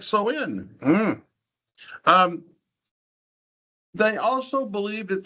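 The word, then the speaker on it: Samhain: And their festival was called Soin. Um, it doesn't spell that way.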